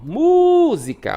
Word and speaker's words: música: Música, ó. Música. O mu demora mais.